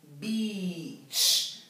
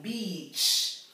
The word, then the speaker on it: beach: A lot longer okay the E A it's pronounced Beach so we have a long e sound Beach and bit per uh